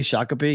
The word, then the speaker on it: Shakopee: Shakopee, yeah.